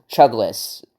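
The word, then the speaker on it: Chuglass: town called Chugless well in the movie it's spelled c h u g l a s s but in the movie it's pronounced Chugless like you're Chugless dude I don't know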